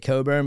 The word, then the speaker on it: Cockburn: I think you say it Coburn, but it's spelled Cockburn.